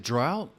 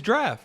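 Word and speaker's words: draught: what is is it drought guinness drought this one it's draft you know like when you go like oh let me get a beer on draft that's how you spell it okay that's okay all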